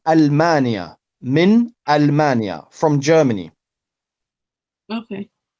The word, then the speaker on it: ألمانيا: So here we don't say minal, it's not alif and lam. It's min Almania.